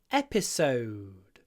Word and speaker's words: episode: double vowel an O episode so it's long but it's soft and it disappears episode so the second part of it it's like spoken under your voice Paulis so episode episode